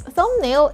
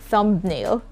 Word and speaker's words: thumbnail: click on that video so it's thumbnail and not thumbnail okay climb and not